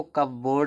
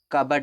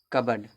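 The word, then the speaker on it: cupboard: और अगर अंग्रेजी में अलमीरा को कब बोर्ड बोला जाता है। ठीक है? इसका उच्चारण कवर्ड होता है। कबडर्ड कबर्ड जो कि गजब है। पा भी गायन और रा भी यही तो उच्चारण है।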